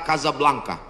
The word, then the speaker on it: Casablanca: Hasan 2 di Kota Kasablanka ibukota Maroko tempat saya kuliah nama negaranya Maroko ibukotanya tulisannya Casablanca cara bacanya Kasablanka Kaza artinya rumah blanka